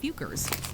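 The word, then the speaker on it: Focker's: but in their defense the questionable word is pronounced fukers there's not a ton of information available about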